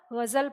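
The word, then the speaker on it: ग़ज़ल: अब ग और ग दोनों में क्या है? हल्की सी झनकार का अंतर है। तो फिर हमारे विद्वानों ने कहा कि अच्छा, इस ध्वनि के लिए भी हम इसके नीचे नुक्ता लगा देंगे तो ये ग से ग हो जाएगा। तो हमने इसके नीचे भी नुक्ता लगा दिया, तो ये हमारा गज़ल पढ़ा जाने लगा।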